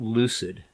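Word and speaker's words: Lucyd: Um, and it's called Lucid. So, it's it's like Lucy D is how it's spelled.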